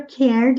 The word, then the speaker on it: cared: Atenção às palavras que terminam com ed. Nós não pronunciamos o e. Cared, cared. Na frase anterior, impressed, impressed. Sem falar a letra e o d com som de t. Impressed. Mas aqui é som de d.